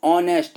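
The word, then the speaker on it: honest: लिखा है इस डी साइलेंट है लेटर इन ऑनेस्ट ऑनेस्ट में कौन सा शब्द साइलेंट है तो इसमें ह नहीं बोला जाता है तो यहां लिख देंगे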